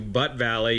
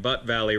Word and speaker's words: Butt Valley: two different directions one is a tunnel to butt Valley yes I said it right butt Valley Reservoir located right over here B not BTE